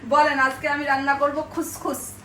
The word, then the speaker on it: couscous: আজকে আমি রান্না করবো খুসখুস ও খুসখুস হ্যাঁ এই যে খুসখুসের বানানটা দেখান বন্ধুদেরকে কাউস কাউস কিন্তু বলে খুসখুস একদম অরিজিনাল মরক্কা নামে রেসিপিটা দেখাবো